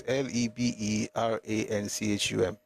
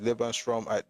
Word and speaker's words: Lebensraum: That word is Leberanchum. That's how it's spelled in German. That's not going to work. Yeah, it's Lebensraum. That the way German word sometimes.